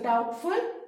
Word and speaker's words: doubtful: And remember, in the spelling of doubtful, B is silent. So doubtful, uncertain.